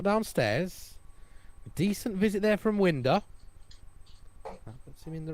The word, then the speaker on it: Winder: I asked Scott how do you pronounce his name before this, and he said Winder.